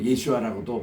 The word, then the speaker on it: 예수아: 여호수아 장군과 이제 이름이 같으니까 또 예수아라고도 발음을 했거든요. 그 예수아라는 이름이 우리 신약에서 예수님 그 이름이에요. 그래서 오늘 또 우리 메시아닉 주들은 예수님을 예수아라고 발음합니다. 본래 이브리 발음이에요.